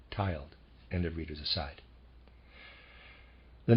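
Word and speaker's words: tyled: y l e d i am pronouncing that tiled and the readers aside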